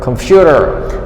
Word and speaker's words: computer: So here we did computer, computer, computer. So the stress is on the second syllable, not computer.